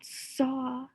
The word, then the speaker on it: saw: do you notice about saw noticing that saw starts with the letter s that ends with the letter w and the a in saw doesn't say the ass sound it says oh now let's spell it